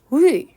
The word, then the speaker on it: 위: 입 모양 은 'u' 같지만 , 발음 은 'i' 여야 합니다 . 즉 , 'i' 소리 를 내는 것 입니다 . 그 결과 혀 는 앞쪽 에 위치 하게 됩니다 . 따라서 전설 모음 에 속 하는 모음 은 ' 위 ' 입니다 . 방금 습관 적 으로 이중 모음 으로 발음 했는데 , ' 우이 ',